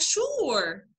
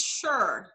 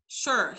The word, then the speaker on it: sure: عليك تقول لك حاجة تقول لك sure which is not correct. يعني هو المفروض sure. sure هي مش الاو زي food. هي او زي fall.